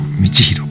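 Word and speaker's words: 道弘: 道弘。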